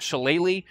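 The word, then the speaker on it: shillelagh: get a lot is why not shalele um which yes is how you pronounce it or at least as close as I can come without a Gaelic accent um and the reason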